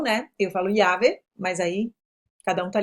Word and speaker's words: llave: Chave, eu tenho llave, que se escreve com dois L's, então a pronúncia dela pode variar, tem gente que fala llave, chave mesmo, como se fosse um X, depende da região, né?